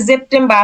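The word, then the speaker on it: September: হ্যাঁ তাহলে অক্টোবা অক্টোবা সেপ্টেম্বরে দেখেন সেপ্টেম্বরে বা হুবহু সেম কিন্তু উচ্চারণ কি হচ্ছে জেপটেম বা হচ্ছে কারণ এস এর উচ্চারণটা বর্গীয় জ হইছে কারণ এখানে কি আছে ভাওয়েল আছে এ আছে এজন্য এর উচ্চারণ হইছে বর্গীয় জ অর্থাৎ জেপটেম বা আবার আউ গোস্ট আগোস্ট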